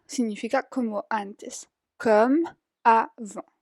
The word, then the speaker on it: avant: Comme avant significa como antes. Comme avant. La T al final no se pronuncia.